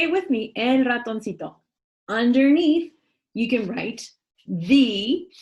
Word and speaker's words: ratoncito: Unknown good spirits gave El Ratoncito, I'm going to stop here because I want you to write down the word.